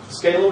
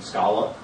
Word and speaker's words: Scala: Um, Scala, which I refuse to pronounce the other way because that sounds stupid. Um, Scola, I just don't like it. Um, Scala feel better.